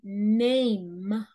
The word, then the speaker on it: name: así my no my name name name no es se pronuncia esa m al final no se pronuncia como una n se pronuncia como una m de mamá ay ay ama se